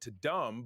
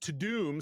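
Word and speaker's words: Tudum: It's pronounced To Doom, so it was Netflix To Doom event. Really? Apparently. To Doom. I thought it was Toddum, like Todd Dumb.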